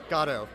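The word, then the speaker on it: Godot: How are we pronouncing this production? Gatto.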